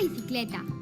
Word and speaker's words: bicicleta: Volvamos a escuchar la palabra bicicleta. Bicicleta. La sílaba cle suena más fuerte que las otras.